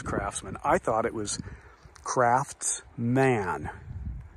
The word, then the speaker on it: Craftsman: I thought it was craft man not Craftsman like k-r-a-f-s-m-e-n that's how most people pronounce it Craftsmen it's not men it's man and there's a t in it but that doesn't seem